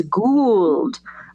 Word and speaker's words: gold: Gold becomes gould.